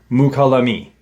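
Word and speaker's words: Mokelumne: And one is my pronunciation of the name, the area. Mukalami is the area where that occurred, or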